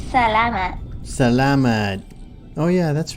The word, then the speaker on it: salamat: you taught me that one yet it's Salama salamat oh yeah that's right the lemon viewers for